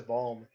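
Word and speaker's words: Balme: is it Timothy balm I pronounce it as balm balm okay and then Diana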